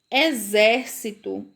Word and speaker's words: exército: família do X, ela pode parecer com o som do Z nas palavras. Vejam só, observem como é diferente a escrita, a pronúncia dessas palavras. Observem a imagem. Exército. Então, se eu fosse ler com X, se fosse o som do X, ia ficar exército.